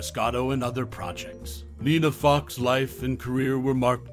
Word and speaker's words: Foch: Lastly, for those curious about her last name, Foch rhymes with Gosh, providing a phonetic insight into the pronunciation of her distinctive surname.